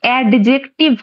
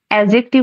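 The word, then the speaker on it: adjective: এটা অনেকে উচ্চারণ কিন্তু এডজেক্টিভ করো তোমরা এডজেক্টিভ কিন্তু এখানে ডি কিন্তু সাইলেন্ট থাকে এডজেক্টিভ উচ্চারণ হয় ঠিক আছে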